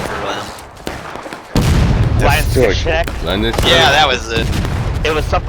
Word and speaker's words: Landsknecht: If you want a beautiful pronunciation, it's Landsknecht. Gotta put the real emphasis in the coffee part of your throat.